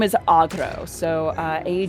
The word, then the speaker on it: Agro: honestly hilarious yeah but her real name is Agro so uh a g r o with a